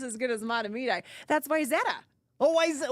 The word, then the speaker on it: Wayzata: That's Wayzata.